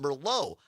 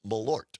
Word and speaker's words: Malort: So, Malort in and somebody uh Julie or Jules in Mosan listening on WXCO says, "Are you sure it's not pronounced Merllo?"